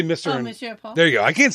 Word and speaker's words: Monsieur Paul: Oh, Monsieur Paul.